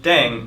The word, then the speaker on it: Ddaeng: playing with language now the pronunciation of Deng is similar to Thang which is the slang of thing in English last but not least